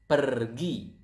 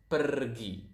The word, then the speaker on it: pergi: Go is pergi. So, as you can see here, we pronounce the r quite clearly. So, it is kind of like Spanish.